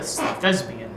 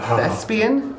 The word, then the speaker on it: thespian: that is scarily perceptive he is quite the thesbian why' you call me the thesbian best it's someone who acts like in a PL or a musical oh a thespian a thespian a thespian am I not pronouncing